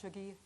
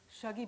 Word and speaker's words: Shuggie: a conversation with douglas stewart the author of shogi i've said it wrong and many thanks to the greenwich library for inviting me to moderate this is shaggy bane's last outing the last time the author